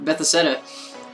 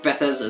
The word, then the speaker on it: Bethesda: I love that content creator Beth Bethetta or Bethesda or Bethesda. that's how you pronounce it.